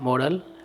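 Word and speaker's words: moral: होता है नैतिक और उसका उच्चारण होता है मोरल इसका उच्चारण होता है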